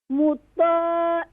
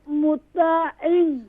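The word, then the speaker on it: مُطَاعٍ: مطاع some. No, in. Pronounce ain sound. Don't pronounce hamza sound. مطاع is a wrong. مطاعن مطاعن. Ain sound is pronouncing from middle of throat.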